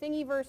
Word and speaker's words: Thingiverse: everybody up yeah and I should say thingy verse it's spelled thing I verse comm thing I verse